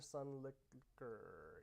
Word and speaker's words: Sunlicker: uh bethany's drinking hype sun liquor sun licker yup exactly it's great liquor and liquor same same pronunciation same sound life of